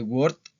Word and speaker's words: worked: Esto se pronuncia como una T. ¿Ok? Ya las reglas de pronunciación ya pronto las vamos a ver en otro video. Entonces tenemos I worked o I went.